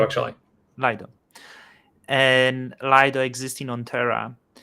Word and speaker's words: Lido: Lido, actually. Lido.